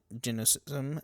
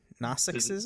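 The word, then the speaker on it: Gnosticism: Barbello in genocism uh is no whatever whatever you want to say. G is silent. Don't look at that. G silent. Oh, okay. G is silent. Nostism.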